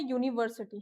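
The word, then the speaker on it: university: देखिए वर्ड है यूनिवर्सिटी। ठीक है? अगर मैं इसको हिंदी में लिखती हूं तो क्या आएगा? यूनिस साउंड हो रहा है ये?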